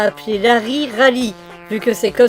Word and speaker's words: Larry: Alors il faut savoir que l'auteur a expliqué que l'héroïne ne s'appelait pas Rally, mais Larry. L'erreur vient du fait que les L et les R se prononcent de la même façon en japonais.